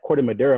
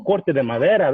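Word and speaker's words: Corte Madera: word actually means because white folks pronounce it like Corte de Madera. I'm like, what is that? Oh, Corte de Madera, that's what it is.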